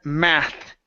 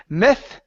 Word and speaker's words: math: good let's go to the word math right here instead of myth okay this is an ah sound so you need to open your mouth and widen your mouth just a little bit more okay Ma uhhuh so